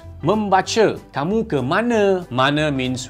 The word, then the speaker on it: membaca: We call it the Bahasa Baku, where a lot of sentences that end with an A supposed to be pronounced as A. For example, in Malay, the word reading is called membaca, M-E-M-B-A-C-A.